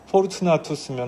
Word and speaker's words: 포르투나투스: 그리고 브드나도, 참 우리 개혁 개정판 이 개혁 성경 전통의 이 원어 발음이 참 브드나도 이게 저기 원문대로 읽으면 포르투나투스거든요. 포르투나투스면 우리 포춘 알지 않습니까?